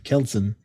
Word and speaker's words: Kjelsen: The J is silent, you know? So like it actually says it right here. Wituslavski is Polish and Kjelsen is Danish. So it's probably Kelsen.